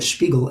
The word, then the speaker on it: Spiegel: The next one, Spiegel, or Spiegel as the way it's pronounced, means mirror.